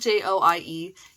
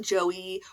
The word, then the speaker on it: Joie: So it's spelled Joie. You might want to call it Joey or Jouy. Joie.